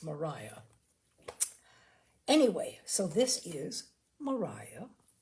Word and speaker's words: Maria: Therefore, this is not going to be Maria, this is going to be Mariah. Because as far as I know, that is the way the English pronounce that name. It's Mariah.